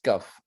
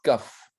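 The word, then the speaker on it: כּ: qui se prononce raf lorsqu'elle se trouve à l'intérieur d'un mot placé au début d'un mot même sans la présence du point daguet shell se prononcent caf donc pourquoi est-ce qu'on a un point ou pas de point c'est que au début du mot c'est toujours caf à la fin du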